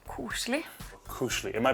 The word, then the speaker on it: koselig: In my culture, there is something called koselig. Koselig. Am I pronouncing that right?